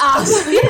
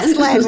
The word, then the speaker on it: Aslan: Yeah, What's Aslan. what's I the think name of it's the a little line? less arse, darling. A little bit more Aslan. as. It's not Arslan. Aslan was.